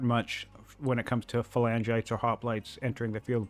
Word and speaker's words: phalangite: And it's 560 gold per, whatever you just called that, phalangite or phalangite.